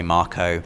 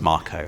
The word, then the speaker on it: Mako: sentinel and their first Mako reactor I still like to pronounce it Mako even though in the trailers they say Marco I did notice that